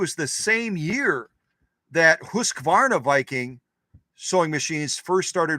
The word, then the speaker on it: Husqvarna: It's not 3 syllables, 2 syllables. It's the same year Husqvarna, I guess that still is 3 syllables, isn't it? Husqvarna. It's 3 syllables, not 4 syllables.